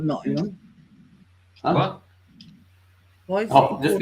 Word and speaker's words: Nottingham: Yeah, but it says Nottingham. Nobody lives in Nottingham. They live in Nottingham. Yeah, but it says it's how it's spelled though, Nottingham. I know, but it's not how it's pronounced.